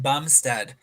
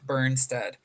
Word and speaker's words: Bumstead: It is Jordan Bumstead, not Berneststead, but we're just doing our personal best out here.